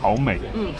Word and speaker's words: 好味: How do you say it? 好味。 Hao mei. Hao mei.